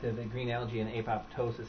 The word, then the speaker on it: apoptosis: that um the nitrous nitrous oxide and uh apoptosis or perhaps I'm pronouncing that wrong how do you pronounce it